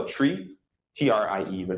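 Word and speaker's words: trie: neat, is called a tree, T-R-I-E, but it's pronounced the same way as a tree, T-R-E-E.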